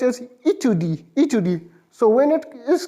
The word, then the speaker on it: étude: So separately, study will be pronounced as étude.